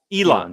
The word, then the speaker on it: Elan: Where? What is it? Elan. Just yeah. Okay. So yeah. I'm saying it right.